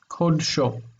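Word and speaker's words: קָדְשׁוֹ: Kodsho. Let's write that out by itself. This is like the Kodesh of him, or his Kodesh, his holiness. The syllables are here. Kod, so.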